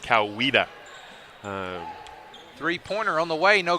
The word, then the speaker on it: Coweta: I was told it's pronounced Coweta.